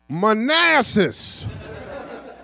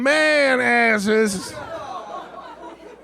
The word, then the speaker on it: Manassas: Also, gentlemen, just so you know, the town in which this battle will be fought is pronounced Manassas. I know a lot of y'all been having a lot of fun telling people we gonna be all up in man asses.